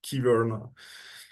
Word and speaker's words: Kyverno: the native speakers I heard that it's called Kyverno.